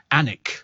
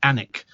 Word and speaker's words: Alnwick: ANIC, okay? ANIC. Even though it's spelt Alnwick.